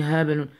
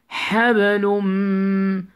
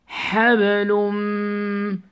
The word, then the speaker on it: حبل من: Don't say habalun. Habalum. Habalum. لوم، don't say لون. You need to pronounce it with nasal sound.